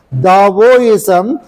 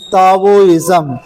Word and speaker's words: Daoism: ISM if you write d a i m Daoism but the pronunciation is Taoism but now the people started writing t a